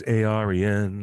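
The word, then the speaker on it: Eärien: She plays Arian, or how you Arian, not pronounce it, Aryan.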